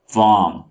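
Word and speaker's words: warm: यहाँ पे आर को नहीं पढ़िएगा, तो अगर आप आर को पढ़ेंगे तो ये बन जाएगा वार्म। ठीक है, वार्म। तो ये प्रोनाउंसिएशन गलत है, ये है वार्म।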